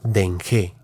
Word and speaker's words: Dengé: De nueva cuenta se volvió a desviar y cada vez se adentraban más en la montaña que en lengua otomí se pronuncia Dengé, pero por tercera vez y en la madrugada se caía de nuevo.